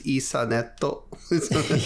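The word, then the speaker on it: イーサネット: just the English word turned into the Japanese pronunciations. So Ethernet is Isaneto.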